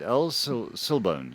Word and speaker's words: El Silbón: El Silbone. Shabone. El Google says Silbone. El Silbone. So, I did go and actually try and get the pronunciation and listen to it. It's El Silbone.